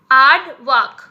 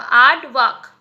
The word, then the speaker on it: aardvark: एड वैक, यानी कि इसका प्रोनाउंसिएशन कैसे करोगे, मैंने यहाँ पे ऊपर लिखा है AAD, ठीक है। और उसके बाद आप वी, और दूसरा पार्ट को कैसे आप प्रोनाउंस करोगे, VAAK, तो हो जाएगा एडवैक, ओके, आड वाक, ऐसे होगा आड वाक, ठीक है।